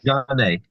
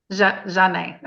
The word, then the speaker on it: Janae: Janae. Janae.